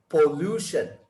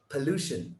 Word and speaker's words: pollution: third word pollution pollution lots of people say pollution pollution is wrong it is per pollution pollution pollution okay go